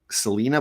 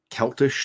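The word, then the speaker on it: Celaena: Roses I think uh I think it's pronounced Selena but I was it looked uh celti to me oh hi Mama Hi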